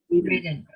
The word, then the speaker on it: ridden: I've ridden. Oh, Usually when there's two letters in a row after, the I is like